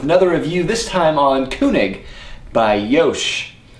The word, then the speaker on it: König: review this time on kunig by Yosh or kig as I mistakenly called it until five minutes ago yeah that's right German pronunciation apparently is kunig nice apparently CU I